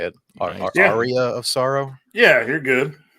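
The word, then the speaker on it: Aria: visiting around there is complete and Box Castlevania ARA of Sorrow that's how you say it ARA of Soro yeah you're good but box is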